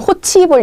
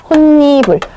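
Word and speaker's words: 홑이불: 얘도여 였 다음에이 나왔다고 무조건 호치 이불 이렇게 읽으시면 안 돼요 얘를 그럼 해 볼게요 호 이부인 거예요 불인 거죠 플러스 이부인 거죠 대표음 그다음에 얘 같은 경우에는 소리 참가 현상이 또 일어나네요 자음 뒤에 이하 여유로 시작하게 되면 니은을 참가해서 얘는 니이 돼요 그런 다음에 자음과 자음 끼이 부딪칩니다 니블 발음하기 힘들잖아요 그래서 발음을 편안하게 하기 위해서 혼니불 혼니불 요렇게 발음이 되게 되는 거예요 그래서이 상황과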